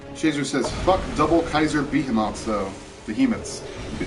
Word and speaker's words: Behemoth: double Kaiser behot though behemoths I have always said be up and that's completely the wrong pronunciation Behemoth is the right one right um Cho says